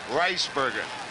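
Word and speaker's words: Rijsbergen: at the press conference in New York last week, Ricebergen was asked how his name should be pronounced. He said Rice, R-I-C-E, Ricebergen.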